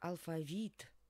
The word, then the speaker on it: алфавит: сложного тут нет Итак алфавит конечно на И падает ударение брала некоторые говорят брала